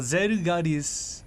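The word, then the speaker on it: Zelgadis: Alright, then last but not least, by Zegadis, or Zerugadis in the Japanese pronunciation.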